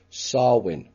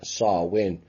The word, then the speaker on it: Samhain: which is not exactly pronounced that way it's pronounced sarwin sexual and blood rituals and it involves sexual